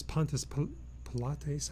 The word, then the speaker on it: Pontius Pilate: And the Roman governor at that time was Pontius Pilates, I think is how you say his name.